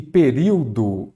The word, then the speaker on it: período: Período, vamos lá de novo. Período. Período. Aqui, novamente, nós temos uma proparoxítona. Por quê? A antepenúltima sílaba é a tônica.